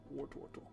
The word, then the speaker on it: Wartortle: Does anybody else pronounce Wartortle because of the Poke Rap? Yeah. Wartortle.